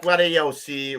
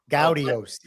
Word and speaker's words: Gaudiosi: Not Gaudiosi, right, Kenny? Not Gaudiosi. No. As I got scolded by Pat Cleary, Gaudiosi.